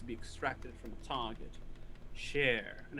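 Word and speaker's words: shere: for memories to be extracted from a target share and it's spelled s-h-e-r-e it is extremely difficult to find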